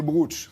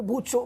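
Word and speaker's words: brocciu: Alors il y a des qu'on appelle le bruch. C'est comme ça qu'on prononce. Alors, on peut dire le bruch ou le bruccio, mais c'est compliqué parce qu'il y a un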